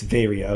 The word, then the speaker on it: Varia: Oh, Adam does say Varia, another M, and it's Varia. Okay, so it's the way I've pronounced it my entire life.